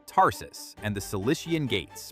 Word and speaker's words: Tarsus: Then move to Tarsus, pronounced Tarsus, and the Cilician Gates, pronounced Cilician.